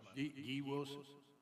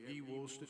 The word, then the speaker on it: Guy Woolston: Wilson, is it pronounced Guy? It's Guy Woolston, Chairman. Thank you so much. Guy Wilson? You got it. Yep. Okay, well, we have Guy Woolston here.